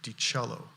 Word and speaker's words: DiCello: My name is attorney DiCello. For the media who's gathered, capital C-E-L-L-O, like the instrument DiCello is how you pronounce it.